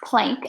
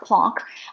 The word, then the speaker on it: Planck: have lower energy mark plank or plonk however you want to pronounce it he was doing a